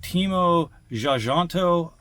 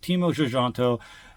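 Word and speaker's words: Timo Tjahjanto: 2018 directed by again teimo zanto my apologies if I'm not pronouncing that but that song I'm going to pronounce it teimo xanto e in this is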